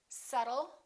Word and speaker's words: subtle: Let's start with the silent B. Bomb, climb. We don't say climb, we say climb. Debt. Don't say debt, say debt. Subtle and doubt.